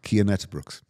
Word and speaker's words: Cian Uijtdebroeks: Brooks can you tell me how that's actually pronounced key andet Brooks oh did I is that right right so